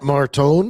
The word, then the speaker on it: Martone: The Flyers look like a competitive, fast bunch, and I don't know, like that Martone.